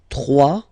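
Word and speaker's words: trois: 3, final S not pronounced, 3.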